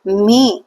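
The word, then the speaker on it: मैं: First நான் அப்படின்னு சொல்கிறதுக்கு மே அப்படின்னு சொல்லணும். ஹிந்தியில் மேன்னு சொல்லும்போது என் சைலண்ட் ஆகிடும். ஸ்பெல்லிங்கில் தான் மேன்னு வரும், ஆனால் நம்ம ப்ரொனவுன்சியேஷன் பண்ணும்போது மே அப்படின்னு ப்ரொனவுன்ஸ் பண்ணணும்.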